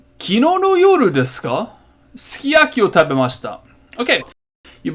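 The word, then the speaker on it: すき焼き: know no you disco ski Akio Taba messed up okay you might notice I'm not pronouncing every single sound that's on the thing like for example here it's not sukiyaki its ski Aki and it's not desu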